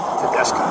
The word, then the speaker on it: Tedesco: How is that how you pronounce that? Tedesco. Tedesco. Tedesco. It's T E D E S C O.